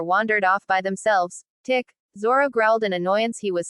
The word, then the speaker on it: Zoro: "Beware, for I am the infamous pirate hunter Ronoro Zoro," the child shouted as he swung wildly at another child but missed. "Oi, it's Zoro.